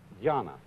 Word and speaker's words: dhyana: And this, in turn, is the Chinese way of pronouncing an Indian Sanskrit word, dhyana.